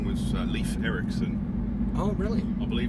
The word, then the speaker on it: Leif: we ended up giving him an equally strong single-syllable name. We called him Jake. I like Jake too. Yeah, me too. Yeah. Leaf is pretty cool.